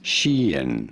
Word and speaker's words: Shein: The clothing brand, it is usually said as Sheen.